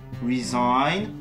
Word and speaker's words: resign: Le I se prononce I lorsque suivi de ND ou de GN en fin de mot, et le cas échéant, le G disparaît.